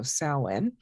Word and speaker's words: Samhain: we should have these celtic names or gaelic names that don't necessarily get pronounced the way that they look so samhain um and that is